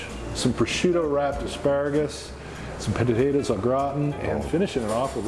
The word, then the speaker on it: au gratin: Gratin rhymes with rotten, and I've always hated the way that's pronounced. So it's in French, it's potatoes au gratin. So just so you know, it sounds so much better that way.